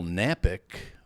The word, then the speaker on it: Knapik: And my name is Knapik, but you're going to say, "Oh man, I don't know how to spell that." Well, here's the key, Kevin. The K is silent, so just go to.